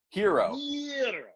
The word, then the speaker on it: gyro: How do you pronounce it? Hero.